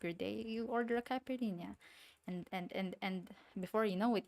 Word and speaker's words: Caipirinha: Caipirinha. Did I say it right? I don't want to butcher it. I feel bad butchering names, you know? Caipirinha.